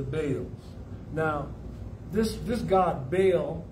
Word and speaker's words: Baal: now this this god bail there's a lot of pronunciations for it uh you may know it as baal uh or by all or even in the